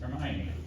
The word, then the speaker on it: Hermione: U of her and I know some people pronounce that name her but it's Hermione like Hermione Ranger that thing about the Wich